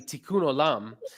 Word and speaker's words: Tikkun Olam: Well, let me just say you pronounced it correctly. Tikkun Olam.